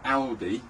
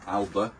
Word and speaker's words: Alde: If I haven't got that switch turned on, the Alde, or the Alba, however you wish to pronounce it, A-L-D-E, for me it's Aldi, that system won't be live on mains electrics unless that is turned on.